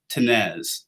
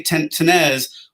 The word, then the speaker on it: Tinnesz: my name is tenez so you say tenez almost as if you ignore the s before the z so for what it's worth tenez i kind of put